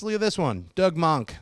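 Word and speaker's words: Moench: at this one Doug monk I think he's that's how you say his name Doug Monk and uh uh what's his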